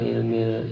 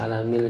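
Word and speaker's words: علم: Lafaz isim yang didapatkan kepada nama Allah nama kemuliaan, alam, alami nama, bukan ilmi dibacanya, tapi alam. Walaupun hurufnya kan sama hurufnya sama, tetapi dibacanya alami karena sesuai dengan konteksnya di sini.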